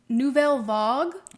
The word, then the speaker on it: Nouvelle Vague: New Vog. Okay. Was how they pronounced it in the film. It's French.